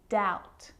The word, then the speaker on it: doubt: all of those examples my lips aren't closing and coming together to form the B sound I'm just pronouncing the T subtle depth and doubt now the letter C